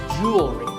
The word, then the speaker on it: jewelry: Word number 44 is jewelry. It's spelled differently in American and British English, but it's pronounced the same. Jewelry. Jewelry. It's not jewelry and it's not jewelry. It's jewelry. Up next is the word quote.